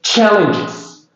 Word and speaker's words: challenges: Again, challenges. Okay, this G is pronounced J. Sound. So challenges.